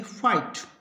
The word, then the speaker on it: fight: और FIGHT, इसमें जी एच है वो साइलेंट होगा और टी का उच्चारण होगा, तो इसको पढ़ेंगे फाइट।